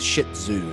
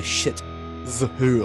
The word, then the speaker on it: shih tzu: You have to say it was a shih tzu, not a shit zoo.